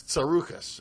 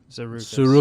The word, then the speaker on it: Tsarouchas: It's Tsarouchas. Nobody can. Tsarouchas.